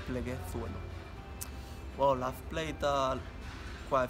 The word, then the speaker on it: Pleguezuelo: The proper pronunciation in Spanish is pleguezuelo. People struggle to say the Z, because in Spanish it's theta, but the right way to say is pleguezuelo.